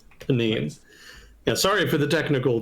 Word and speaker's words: Benin: So, it's uh Benin. Benine. I looked up how it's pronounced. Benine.